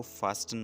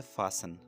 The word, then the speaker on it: fasten: दोस्तों ये वर्ड को फास्टन मत प्रोनाउंस कीजिए। ठीक है, इसको आप प्रोनाउंस कीजिए फासन। टी यहाँ साइलेंट है।